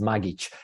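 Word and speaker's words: Magić: on I'm from Croatia so my last name is magich and it's spelled as magic so it's not that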